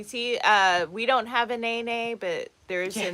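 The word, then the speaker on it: nēnē: We didn't even know how to say it correctly. No, we were calling it a nini up until we heard somebody who was living here say it.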